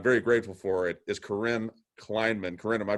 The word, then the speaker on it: Corinne Kleinman: Who we do have with us, and I'm very grateful for it, is Corinne Kleinman. Corinne, am I pronouncing that right?